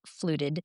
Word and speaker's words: FLUTD: So fluted stands for feline lower urinary tract disease. So that's an acronym and we just pronounce it as fluid fluted.